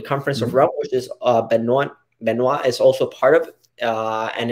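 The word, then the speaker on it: Benoît: We were having this conversation because Benoit is how you pronounce it in French, but if a Latino will pronounce it Benoit, because you have B-E-N-O-I.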